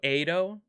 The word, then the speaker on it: Edo: sweet fish she's drooling with a long a sound so edo like that i keep [ __